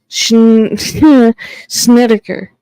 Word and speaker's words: Snedeker: Snedeker is how it's pronounced.